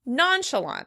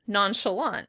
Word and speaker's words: nonchalant: In British English, it would be stressed on the first syllable. Nonchalant. Nonchalant. In American English, we would pronounce it on the last syllable. Nonchalant.